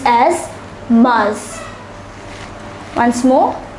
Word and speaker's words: mars: written as favorite once more favorite March is pronounced as Mars once more Mars April is pronounced as Avril Avril so let